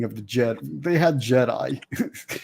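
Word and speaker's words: Djed: They had Jedi. It's spelled D-J-E-D-I, Jed.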